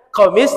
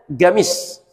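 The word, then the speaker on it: قميص: Orang Saudi bacanya ghain. Makanya qamis bacanya gamis.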